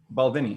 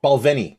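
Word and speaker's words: Balvenie: on here now the balvany is wait now now i'm i'm saying that right right about balcony balvini yeah balvini that's it that's where the accents on the second syllable this is like a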